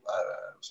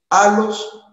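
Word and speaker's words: ἄλλος: Pero el alos, ¿por qué es importante esta palabra alos? Se escribe con doble L.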